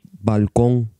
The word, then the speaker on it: balcón: The N consonant, N, is velarized and pronounced N at the end of words. For example, in the word for balcony, balcón.